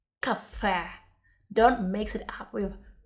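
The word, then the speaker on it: кафе: emphasis here on the last waddle and we pronounce yeah like a cafe cafe don't mix it up with coffee cafe two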